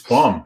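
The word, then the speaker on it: Böhm: in her ufc debut it's pronounced no i know it is i know what it is it's it's bum i mean believe me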